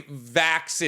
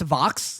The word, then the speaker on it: Vox: I would say Vax and Vex. Vax and whatever. It's pronounced Vox.